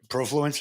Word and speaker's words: Profluence: Profluence, is that pronounced correctly? Yeah.